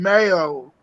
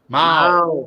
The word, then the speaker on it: Mao: Hey, Big Red, Preston, Mayo, KY, What'd you call me? Mayo, Mao, No. Mao. Wow. Mao. It rhymes Moo, with Jen Wow. It's Mao.